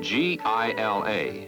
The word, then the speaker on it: Gila: monsters the gila monster spelled g-i-l-a but pronounced gila is the only venomous